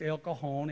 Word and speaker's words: El Cajon: El Cajon she said here is pronounced with an H it's El Cajon and San Jose she